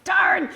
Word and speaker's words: Taryn: And I remember the MC got my name wrong. He's like, here comes Taryn. I'm like, it's Taryn.